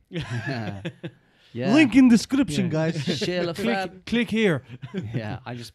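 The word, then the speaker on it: Chez le Fab: Shale of Fab as well, for anyone who wants to Google it. It's spelled C-H-E-Z. L-E-F-A-B. Yep. Shale of Fab.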